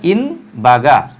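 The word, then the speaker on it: انبغى: ইন বাগা তো উচ্চারণ আমরা করব ইনবাগা।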